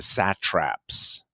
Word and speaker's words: satrap: this word, but the satraps. Have you ever seen that word? SATRAP. It's like the local governor. Like in golf, like there's a sand trap.